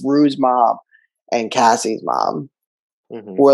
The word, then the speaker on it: Cassie: she's like she's drunk am i pronouncing it wrong is it casey or cassie it's cassie cassie cassie and lexy's mom is